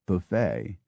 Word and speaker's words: buffet: which food is served we absorb bu ufff T pronounced buffet unconcerned that it jars with the same word meaning to hit but pronounced buffet in the same way